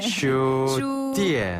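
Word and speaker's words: 书店: 슈띠엔. 네. 한자 서점을 그대로 중국식으로 발음한 건데 한 번 더요.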